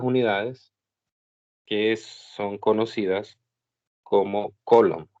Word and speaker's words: coulomb: que son conocidas como coulomb. Algunos, bueno, diferentes maneras de decirlo. Se escribe como coulomb. Algunos lo han españolizado y le dicen culombio. Entonces, ahí depende de usted, cómo lo quiera pronunciar.